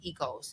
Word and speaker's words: Oikos: There's yogurt called Ecos, so Oikos. That's pronounced Ecos.